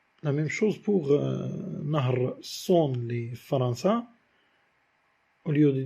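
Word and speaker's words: Saône: Par exemple aussi, Son, c'est un fleuve français. On a le A et le O, mais qui sont prononcés en une seule syllabe.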